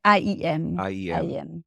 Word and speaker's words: AIM: acronym as a yes they say aim aim and in French a lot of people say IEM aim okay we'll go with